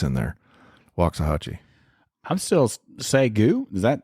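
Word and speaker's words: Waxahachie: southern Assemblies of God University the Lions uh wachi is that right yes sir wah I pronounced it right I saw it it's there's an X in there wachi I'm still sagu is that that's it yeah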